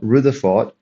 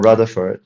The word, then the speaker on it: Rutherford: experiment okay so uh a professor called Rutherford all right or raford depending on how you pronounce it decided to put